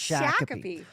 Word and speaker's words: Shakopee: It's Shakopee.